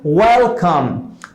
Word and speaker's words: welcome: जितने भी words W से स्टार्ट होते हैं उनको प्रोनाउंस करने के लिए हम मुंह को राउंड कर, जैसे वेलकम, right? वेलकम, नॉट वेलकम, नहीं, वेलकम, right? This is वेलकम।